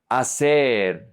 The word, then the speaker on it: hacer: The H is always silent in Spanish. You never pronounce it. It's invisible. It's like you don't see it.